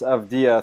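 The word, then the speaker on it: Avdija: By the way, I believe his name is pronounced Avdia for that player out of Maccabi Tel Aviv.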